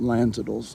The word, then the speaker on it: Lanzadle: She's going to spend most of the day at Tom Lanzadle's house. The D is silent.